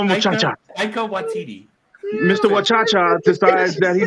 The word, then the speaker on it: Taika Waititi: It's like Taika Watiki, literally anything like that, man. I'm actually gonna. Wachacha. Okay, I'm gonna call him Wachacha. Taika Waititi.